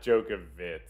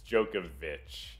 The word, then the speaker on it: Djokovic: Oh, but it's not Djokovic like that. It's Djokovic.